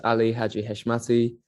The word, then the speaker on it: Hadji-Heshmati: hi my name's Ali heshmati and you're watching the permanent rain press permanent rain Press today I am excited to be joined by Ali hashmati how are you good thank you thank you